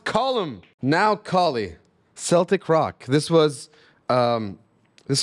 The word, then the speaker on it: Colm: by an artist called calm McGinnis music that can't be how he says his name it's because I'm not the only person that makes this mistake it's pronounced column now Kali Celtic Rock